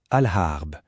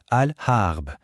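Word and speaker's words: الغرب: Et pour compléter le tableau, l'ouest alharb. Attention au son ré au début, il est assez particulier. Alhamb.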